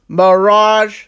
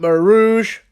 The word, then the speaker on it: mirage: Okay, first of all, it's pronounced Mirage, not Marouge. Where you get the O from, mate? There's no O in the word.